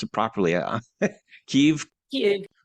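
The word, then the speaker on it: Kyiv: How do you pronounce it properly? Kiev.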